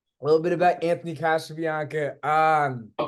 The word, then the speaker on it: Casabianca: A little bit about Anthony Casabianca. I'm pronouncing that right?